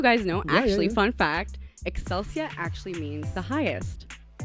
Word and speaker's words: Excelsia: And also, just to confirm, my first name is Excelsia. Excelsia like like accelerate your breath.